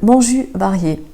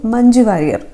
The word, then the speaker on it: മഞ്ജു വാര്യർ: ജെക്ക് ഒരു ഴ് എന്നുള്ളൊരു പ്രൊനൗൺസിയേഷനാണ് വരുന്നത്, ഉച്ചാരണമാണ് വരുന്നത്. 3ാമത്തേത് മോഞ്ചു വാരിയേ. മോഞ്ചു വാരിയേ. മഞ്ജു വാര്യർ.